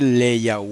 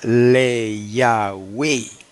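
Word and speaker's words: לְיָה: con ese prefijo le tendría que pronunciarse leya hermano no hay otra manera leya ahora no he puesto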